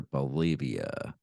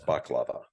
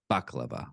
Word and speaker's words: baklava: much cyanide in their uh, biscuits or their Bolivia, containing too many shards of glass. Eventually, his It's pronounced baklava. baklava.